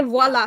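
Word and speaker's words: voilà: You pronounce the V in French. Et voila. Yes. Voila. V. Yeah. It's a V. No. It's not a W, folks.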